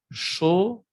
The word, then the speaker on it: chaud: Chaud, chaude. Aquí también en femenino cambia la pronunciación, se escucha la D.